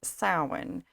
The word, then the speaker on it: Samhain: So, so sin. Now, I personally pronounce it sin. Some people pronounce it sin or even Sam Hayne.